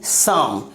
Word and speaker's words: psalm: सम।